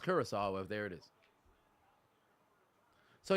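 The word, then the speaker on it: Curaçao: Oh, it's pronounced Curacao.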